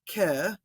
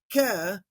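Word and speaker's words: καί: also as far as using the Quinn air pronunciation I notice a lot that uh students will take the word ke super common right um and they'll say k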